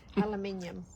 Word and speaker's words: aluminium: Aluminium.